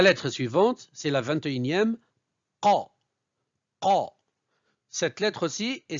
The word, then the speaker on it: ق: Commencez par prononcer le son K pour la transformer par la suite en qa, qa, qa.